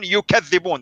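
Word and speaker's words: يُكَذِّبُونَ: the way to pronounce it is different, right? Yakdibun, yukadhibun.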